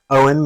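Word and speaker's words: Eoin: see uh in the bio that my name is spelled EO i n so y know means warrior Maiden Owen means God's gracious gift so you're welcome or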